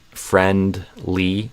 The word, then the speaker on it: friendly: Yeah, the target I have in my head is friendly, so a E sound here instead of a I.